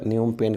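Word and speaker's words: Phnom Penh: इसकी स्पेलिंग थोड़ा न्यूम पेन की टेन होती है, PHNOM, उसके बाद PENH, न्यूम पेन, ये राजधानी है, ठीक है, कंबोडिया की।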